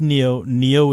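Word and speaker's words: Niyo: When I thought work it was with John Nio. Is it Neo?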